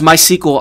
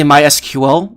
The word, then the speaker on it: MySQL: how do you pronounce my sequel i mean i always say my sequel sometimes i say mysql i'm not really consistent